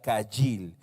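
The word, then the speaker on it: חיל: y y él se escribe ágil y se pronuncia cahill esta palabra literalmente significa fuerza poder eficiencia riqueza capacidad fuerza poder fuerza eficiencia o capacidad eso es lo que significa cahill esta palabra caijing en cierta forma la la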